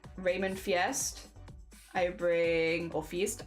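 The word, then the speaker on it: Feist: For me I bring Raymond Fiest I bring or feast. I never know how to pronounce fiest or fiest. Feast.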